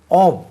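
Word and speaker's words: of: Starting ஆவ். இதனுடைய உச்சரிப்பு கொஞ்சம் கவனிங்க. எஃப் என்று ஃபா உச்சரிக்கக்கூடாது, வி மாதிரி உச்சரி. ஆவ் ஆவ். விக்கு உச்சரிப்பு வரணும்.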